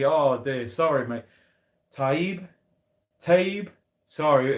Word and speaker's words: Taib: Taib Hussein says, Curtis, you pronounced my name wrong after pronouncing it correctly. Oh, dear. Sorry, mate. Taib.